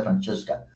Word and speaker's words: Francesca: Francesca, aquí fue Francesca, porque es un nombre italiano y se pronuncia Francesca, opened her new business on Franklin Street.